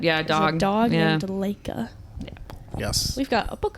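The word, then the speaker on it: Laika: I've heard it pronounced Leica. Leica. Oh, okay. Only based on the arcade fire. It's called Leica.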